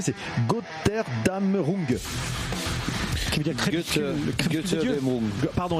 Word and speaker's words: Götterdämmerung: Alors, la prononcer, c'est Götterdämmerung.